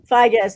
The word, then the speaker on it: Figes: Figes. Thank you. I never know how to pronounce it.